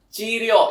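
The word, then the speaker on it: 治療: Jadi cara bacanya itu adalah chiryo yang artinya itu adalah pengobatan.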